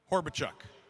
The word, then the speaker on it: Horbichuk: Easton, how do I correctly pronounce your last name? Horbichuk.